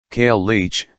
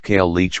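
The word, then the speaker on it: cailleach: In case you're curious, the word is pronounced, key followed by clearing a large amount of mucus from your throat.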